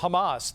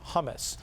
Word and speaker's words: Hamas: Republican Jewish activists and was mispronouncing the name of, for example, Hamas, the organization that operates in the Middle East and in Lebanon, and calling it something that sounded more like the chickpea dip hummus.